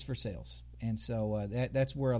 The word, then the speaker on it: Versailles: And Hogan First Prep, of all, I really thought this whole time it was Versailles. It's Versailles. And so that's where a lot of Walmart and I money say Versailles resides.